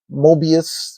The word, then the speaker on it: Moebius: I've never built anything like this from Moebius, which I just recently found out that's how it's pronounced, other than the Batman Batpod.